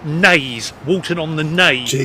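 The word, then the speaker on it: Naze: Okay, I've just been in a shop and apparently it's pronounced nays.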